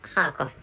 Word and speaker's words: Kharkiv: That is the name of our region, Kharkov, or Kharkiv in Ukrainian language. But actually, so Russian pronunciation is Kharkov, which is easier for me to pronounce. Or this is alphabet. This is an alphabet one. So which is why. So I know this pronunciation in Russian language. So in English, in Russian manner, the name of this oblast is called Kharkov. But actually, so using Ukrainian language, this is Kharkiv maybe.